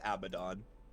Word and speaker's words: Abaddon: you pronounce it is abaddon oh okay like abaddon from the bible yeah